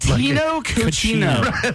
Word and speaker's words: Cochino: Oh, that was better, because the way you said it before, it sounded so white. Tino Cochino.